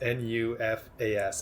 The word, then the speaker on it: Nufás: So it's Nufas, and there's a little accent in there on the A, I believe, right?